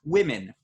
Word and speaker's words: women: Take the word women, WOMEN. The first vowel in women is I. like we said earlier, like kit and it and Tim. But it's spelled with an O.